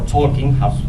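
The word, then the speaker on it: Tzolk'in: toin is in May tolin to the tolin or tolkin as we pronounce it is composed by this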